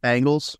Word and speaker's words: Bengals: to their best also is it Bengals or Bengals I feel like I've gone back and forth this podcast I always say Bengals with a long a bangal yeah I mean out